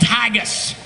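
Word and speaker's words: haggis: national dish of Scotland is called haggus I don't like to eat anything that rhymes with gagas hagus is sheep intestines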